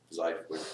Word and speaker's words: xiphoid: Spelled with an X. Sounds like it's the xiphoid process.